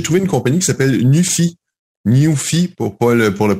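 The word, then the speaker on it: Nuphy: Alors, j'ai trouvé une compagnie qui s'appelle Newfy, pour le prononcer en anglais.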